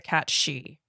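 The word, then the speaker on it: cat sidhe: called a cat's uh it's spelled s-i-d-h-e but it's pronounced a cat she it would try to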